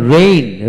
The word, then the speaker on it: reign: তারপর রেইন, রেইন, REIGN, রেইন উচ্চারিত হবে।